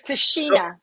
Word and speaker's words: Tichina: you said it right to Sheena tajina yes Tashina Tashina yeah so um your Reflections on Harry